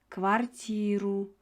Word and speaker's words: квартиру: В новую квартиру. Квартиру деп атабыз. Иге ударение түшүп атат.